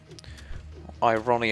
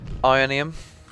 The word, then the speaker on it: Ionian: neat oh cool okay some ionian I Ronnie um have you wanna say it Ionian Erik mispronounced Ionian right prick this is